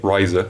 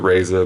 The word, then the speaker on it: Riser: If you have a Vanguard with Razor in its name, Riser, sorry. The anime calls it Razor, but most people call it Riser because that's probably how it should be pronounced.